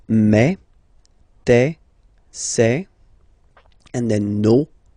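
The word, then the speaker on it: mes: Okay, so for the phonetical or pronunciation aspect of it, then remember that this es here combined will give you the sound e. Okay, so you'll pronounce it like me, okay, te, so logical,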